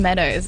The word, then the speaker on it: MDWS: My good friend Meadows, actually. He's an artist. Oh, okay. Yeah, it's spelled MDWS.